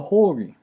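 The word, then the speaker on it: Ϩ: like a weird s is actually called the whole okay and it has it pronounces like a h like house okay and this letter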